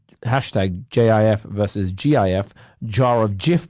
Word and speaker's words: GIF: peanut butter that has a label humorously declaring the soft G pronunciation to exclusively refer the peanut butter and gift to be exclusively pronounced with the hard G pronunciation so presuming that coding